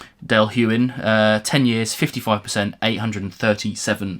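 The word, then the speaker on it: Dailuaine: D yuin I'm always I always have to pause before I say that word because it that is not how it's spelled Dale Wayne Dale huin uh 10 years 55%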